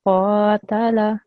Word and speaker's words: qatala: This, on the other hand, is a thick and rounder letter, and so it should be pronounced like that as well. So it should be qa, okay? Yeah. So qatala.